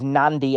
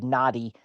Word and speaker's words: Nadi: The correct pronunciation is Nandi, as if it were spelled Nandi. However, it's not. It's spelled Nadi. And so for the sake of ChatGPT, I said Nadi.